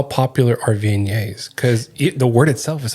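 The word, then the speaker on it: Viognier: is how popular are vignetes cuz the word itself is hard to say sometimes. Yes, it's funny with vi it's it's in French. It's um vignet is how we're supposed to say it.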